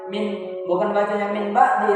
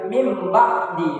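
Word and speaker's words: مِنْ بَعْدِ: Jadi bukan bacanya min ba'di, tapi mim ba'di.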